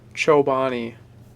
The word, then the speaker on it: Chobani: it how do you say that lame again Chobani okay